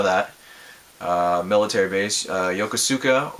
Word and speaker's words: Yokosuka: uh military base uh yokosuka or yukusuko japan is how they say it um even though